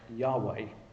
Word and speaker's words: Yahweh: the English Bible but the Hebrew would be pronounced something like Yahweh and it's built on